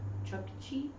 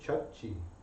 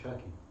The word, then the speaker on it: Chukchi: Define Chukchi. It's a place. Okay, Google. Where is Chukchi? I keep thinking I'm saying Chucky.